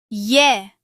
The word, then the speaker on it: ye: The Spanish name of Y is Ye.